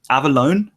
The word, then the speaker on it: Avellone: go o to triple-check is it Avellone is that the correct pronunciation right in the first tried a awesome cool just